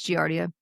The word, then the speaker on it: giardia: No, I just making sure I wasn't saying it with the wrong kind of G sound. You know what I mean? Gotta dearentes. I've been saying giardia for years, but I'm just like, is that how you say it? Did no one like actually correct me because they didn't like want to make me feel bad? But it is giardia. I How many people do